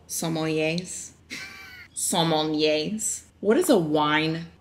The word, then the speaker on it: sommelier: You know how wine connoisseurs are called sommeliers?